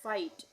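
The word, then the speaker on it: fight: तो यहां पे जी एच का उच्चारण नहीं होगा। इसको हम पढ़ेंगे फाइट।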